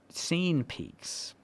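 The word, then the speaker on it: Sein Peaks: So this article was picking up a Twitter creator called Scene Peaks. That's spelled S-E-I-N.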